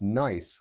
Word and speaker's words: Nice: Let me tell you about something called the nice model, pronounced nice like the city in France, not like the adjective, because it's revolutionized our understanding of the early solar system and the asteroids.